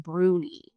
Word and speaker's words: brownie: They're pronounced brunie.